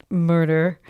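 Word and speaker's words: Murter: It's with a J, but they pronounce it Murder.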